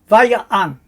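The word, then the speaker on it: וַיַּעַן: Remembering that the iron is in white, telling us we don't pronounce it, same as we don't pronounce the aleph here. So we read, Vaya'an, and he answered.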